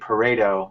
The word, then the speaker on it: Pareto: of by a man named paredo i think that's how you pronounce it pareto pareto who was in